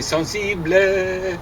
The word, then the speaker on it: sensible: They'd say sensible, ba ba ba ba ba. Well, that's not the way they say it. It's sensible. 2 syllables, not 3.